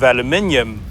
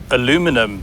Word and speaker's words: aluminium: huge hood is made from one piece of aluminium or aluminum if you want to mispronounce it but the designers almost had to